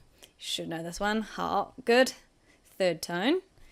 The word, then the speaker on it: 好: 好, good. Third tone. 你好吗? 我很好. So when 好 has a third tone, it means good.